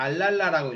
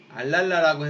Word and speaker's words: ALARA: ALARA 이걸 갖다가 알랄라라고 읽어요. 알랄라라고 해서 as low as reasonably achievable이라고 돼 있죠.